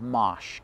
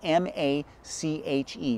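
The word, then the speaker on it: mâche: want to be planting in October is called Mache. Okay, Mache is a plant that a lot of people are not really familiar with. It's spelled M-A-C-H-E, Mache.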